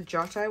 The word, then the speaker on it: Giotto: Oh, and you'll notice the Giotto, it's not spelt with a J. It's spelt with a G-I, because as I think I mentioned the other day to you, G-I is the J sound in Italian, for Italians.